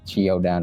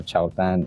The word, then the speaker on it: Qiaodan: It's because the brand's name, pronounced Qiaodan or Qiaodan, is a transliteration of Jordan in Mandarin Chinese.